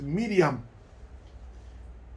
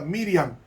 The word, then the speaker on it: Miriam: realmente el nombre es Miriam porque la palabra María no es hebrea es griega llamó a María Miriam como se pronuncia en hebreo y entonces ella contestó